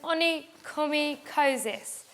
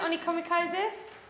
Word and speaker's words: onychomycosis: Have you found it, onychomycosis? Yeah. OK, so I want you to try and say that out loud now by following the instruction, the pronunciation. So, onychomycosis.